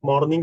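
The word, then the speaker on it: morning: मॉर्निंग बोलो, मॉर्निंग बोलो। आर अगर साइलेंट रख सकते हो तो रखो।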